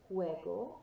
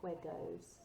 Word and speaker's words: juego: Juego al fútbol. And remembering here, of course, you've still got that O sound at the end. I don't want to hear any juegos.